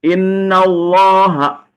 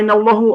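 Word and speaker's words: إنَّ اللهَ: dengar innallaha innallaha apa innallahu apa innallahi innallaha innallaha kan kenapa dibacanya innallaha ee inna nah karena inna inna itu amil ya Allah itu makmul inna yang memerintahkan lafaz Allaha supaya dipatahkan.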